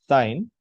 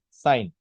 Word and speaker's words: sine: So first is sine. In short, it is written as SIN, sine. So how do you pronounce it? Pronounce it as sine.